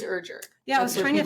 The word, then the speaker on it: Erger: you told her it's rhymes with Burger it's the best way to say it people mess it up a lot urger usually it's urger yeah I was trying